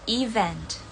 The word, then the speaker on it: event: Untuk aksen British dan American, itu pengucapannya sama untuk kata ini, yaitu event. Jadi bukan even atau even atau evin, tapi event.